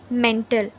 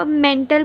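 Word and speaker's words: mantle: Second layer जो पूरी है वो है मेंटल, ठीक है. इसको आप अब मेंटल पढ़ोगे नहीं, ठीक है. जब आप प्रोनाउंस करोगे इसको तब आपने बोलना है मैंटल, राइट.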